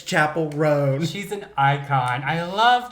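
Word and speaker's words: Chappell Roan: Because it's so funny, because I just saw a TikTok where she was like, stop calling me Chappelle Roanne. Yes, it's Chapel Roan. She was like, it's Chapel Roan.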